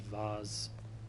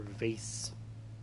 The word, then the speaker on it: vase: Broken or busted vase or vase. I prefer vase because vase sounds like face, and face is spelled with a C.